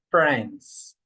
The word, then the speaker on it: friends: But here the letter I is not pronounced. You say friends.